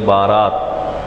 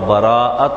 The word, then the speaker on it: براءت: بھی ذکر کیا گیا۔ عموماً ہمارے یہاں اس کے تلفظ میں بھی غلطی کی جاتی ہے، لوگ بولتے ہیں شب بارات، تو بارات جو ہے یہ اردو کا لفظ ہے، اور براءت یہ عربی کا لفظ ہے۔ براءت کے معنی